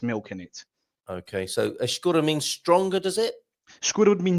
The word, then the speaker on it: escura: Yeah, if you break this word down a little bit, if we do it into syllables, the famous phonetics, this is where they come in. Yes. We have escura. Cool. We've already talked about this little syllable over here quite a few times. The funny one. The cool, yes. So we got the soft E with a sh sound, almost like you're shushing someone.